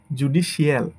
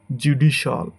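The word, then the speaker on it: judicial: এটাকে আমরা বলি জুডিশিয়াল, বাট এটা হবে শিয়ালের জায়গায় শল, জুডিশল, জুডিশল। এটাকে আমরা সঠিক উচ্চারণই করি মার্শাল, মার্শাল, মার্শাল।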